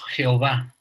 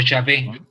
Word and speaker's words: Jehová: Es Yod, Jebaue, que pronunciamos Jehová, o Yahvé también, ¿no?